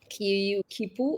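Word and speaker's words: quipu: So, this, what we're looking at, is called as a kipu. Kipu. I just want to be sure I'm pronouncing it right, but there are like a couple of ways.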